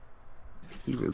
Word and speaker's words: Hiru: Okay, Hiru, do you say your name Hiru or Hiru? Hiru. Hiru. Oh, my bad. Hiru, good to know.